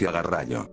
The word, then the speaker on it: garraio: Dans d'autres cas, le transport GARRAIO, qui en espagnol il se prononce GARRALLO, nous ajoutons -LARI faisant GARRAIOLARI transporteur.